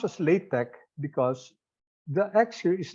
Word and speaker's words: LaTeX: okay it's pronounced as late Tech because the action is not actually it's not actually English X it's the Greek letter Kai pH uh CH I